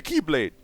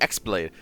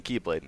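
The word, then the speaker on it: χ-blade: not a keyblade the ex blade it still sounds like you're saying keyblade no it's like the Greek letter X it's pronounced the same makes more sense when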